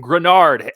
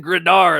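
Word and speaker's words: Greenard: It's the theory that because the Vikings signed Jonathan Grenard, I'm pronouncing it right, folks. There was some hatred in the comments. Jonathan Grenard, I've arrived, baby.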